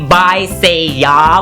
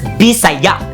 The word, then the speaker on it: Bisaya: example the word bayah we don't pronounce it as by as in by anual or say as in say and then the just yeah we pronounce it as B sa we don't say by say we pronounce it as bisaya the ya on the end has a stress like y knowing these easy rules